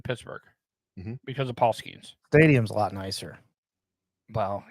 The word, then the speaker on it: Skenes: Skeens.